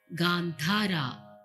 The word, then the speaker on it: Gandhara: The Gandhara and Dhaivata are pronounced as the A, Ga, not A or E or A. It is in between, which is very good to activate this part. Gandhara, Dhaivata. We say dha, dha.